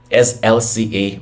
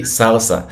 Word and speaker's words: SLSA: so I've been diving into the concept of slca which was what I was pronouncing it as for a long time before I realized that oh W it's actually salsa and I was like that's really cool why